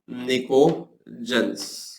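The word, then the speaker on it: Pnictogens: है स्पेलिंग के लिए, मैं लिख रहा हूं निकोजेंस। पी साइलेंट होता है, निकोजेंस।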